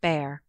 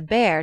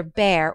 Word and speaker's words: Bhaer: Now don't laugh at his horrid name; it isn't pronounced either Bear or Beer, as people will say it, but something between the two, as only Germans can give it.